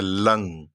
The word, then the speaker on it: लं: जिसका मंत्र है लंग। ल के ऊपर। अनुस्वार बिंदु लंग।